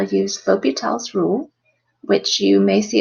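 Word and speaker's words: L'Hôpital: learn how to use l'hopital's rule which you may see it's spelled with an S but without a nuts that S is silent it's named after the French mathematician that came up with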